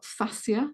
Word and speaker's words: fascia: Now, fascinating fascia, or fascia, some people pronounce it, is such a complex connective tissue structure in the body.